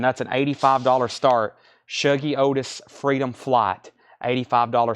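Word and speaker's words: Shuggie: and Sons was 9.99 pronounce show G Shoji Otis Shoji shuggy not shogi wow okay uh the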